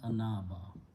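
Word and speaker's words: أناب: Okay, sound is af'ala, so this ya is pronounced as alif, it becomes anaba.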